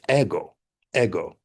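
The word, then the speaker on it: εγώ: Yes, you are the ego in Greek pronounce uh correct pronunciation in Greek is ego. Ego and this is who you are.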